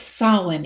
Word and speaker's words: Samhain: Even though it's spelled Samhain, it's pronounced Samhain. It's Gaelic after all.